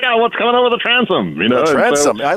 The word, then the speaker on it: Transom: Am I pronouncing that correctly, Ben? Because I've heard it two ways. The transom?